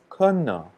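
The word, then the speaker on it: kene: And there's a word in the Shipibo language called kena. So that's spelled K-E-N-E, but they're the way that it's pronounced kena.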